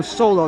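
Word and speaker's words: Soloo: It's spelled S-O-L-O-O, like Solu, but he says everybody calls him Solo.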